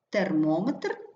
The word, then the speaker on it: термометр: наприклад сантиметр міліметр кілометр але назвах пристроїв наголошується по-інакшому наприклад термометр барометр основні принципи наголошування прикметників